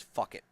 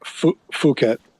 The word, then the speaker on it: Phuket: I'm looking at it, I think this might be pronounced as fuck it, but it's probably more like Phuket. Phuket. We'll go Phuket, Thailand. Phuket, Phuket, something like that. Yeah. Actually, Phuket.